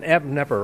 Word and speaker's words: Knepper: The K is silent, so yes, it should be Knepper, right?